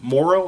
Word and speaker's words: Moro: uh and they start off a new story about a guy named morrow or Maro Moro I think is how you say his name is m-o-r-o uh that's really what